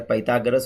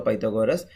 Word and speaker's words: Pythagoras: a special property called Pythagoras Theorem or Pythagoras Theorem two pronunciations are there Pythagoras or Pythagoras so so Pythagoras Theorem